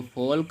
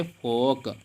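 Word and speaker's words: folk: तो फोल्क में हम एल नहीं पढ़ेंगे बल्कि क्या पढ़ेंगे, फोक।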